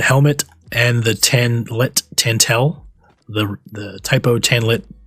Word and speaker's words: Tantel: so you'll notice it says a variation of tan tell armor because it's spelled t-a-n-t-e-l tantel but early on the server